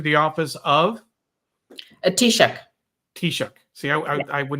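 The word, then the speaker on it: Taoiseach: ask you to uh help me with the pronunciation uh he returned to the office of a tishuk tishuk see I I I would not have found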